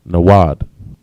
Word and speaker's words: nawad: In the Hebrew, it's nawad. Na, wa, and da, nawad. All right.